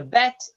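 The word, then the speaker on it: בּ: So we have so far aleph, which makes no sound, the bet, which makes a b sound, and the B. vet, which makes a v sound.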